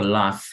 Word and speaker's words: laugh: Aquí está el verbo laugh. Nuevamente la G con H suena como una F. Entonces esto lo vamos a pronunciar laugh.